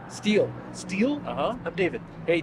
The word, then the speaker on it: Stele: uh definition I appreciate that what's your name steel steel uhhuh I'm David hey David steel how do you spell that St l e okay are you okay